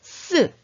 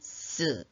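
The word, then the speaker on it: 四: 않는 것도 같은 이유입니다 죽을 사 중국어로 는 쓰 으 라고 있는데요 어떤가요 숫자 4 쓰 와 발음이 비슷하죠 그래서 중국인들도 숫자 4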